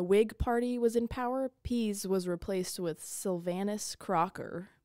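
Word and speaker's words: Pease: I typed it in it says to pronounce it as peas so I'm just going to pronounce it as peas p e a s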